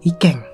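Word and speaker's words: 意見: Nah, kanji ini tuh, Bro, dibacanya yaitu ikeng. Ikeng. Ini kan ongyominya kan keng ini. Sama i itu ikeng gitu, Bro.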